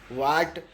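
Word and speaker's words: what: ह साइलेंट बन गया ज्यादातर स्पेलिंग में व के तुरंत बाद ह का उच्चारण नहीं होता है जिसे ए इसमें भी ह का उच्चारण नहीं होगा व के बाद में वॉट वॉट में भी नहीं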